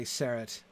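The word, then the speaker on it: Serret: Okay, most of you are first syllable, actually. Okay, all right, good. I'll stick with it then.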